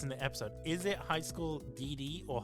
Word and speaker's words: High School DxD: Is it High School DD or High School DXD? Because everyone wants No, it is it is actually pronounced high school DD.